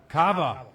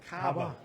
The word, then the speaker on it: cava: Cava. Cabba, which is a sparkling. Oh, sparkling wine. Oh, cava with a V. Cava. Cava. A cabba. Cava. I was mispronouncing my head.